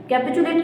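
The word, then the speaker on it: capitulate: कैपचुलेट का मतलब क्या होता है?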